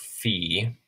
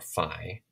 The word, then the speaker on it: phi: Early, this would have been a P, an aspiration, so P. Later on, it became an F in modern Greek.